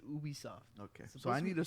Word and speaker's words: Ubisoft: Maybe I should be saying Ubisoft. Yeah. Because it's just like me. If someone asks me what my name is, no matter how it's spelled, I think, dude, to be honest with you, I think I saw a video on this, and I think it is Ubisoft.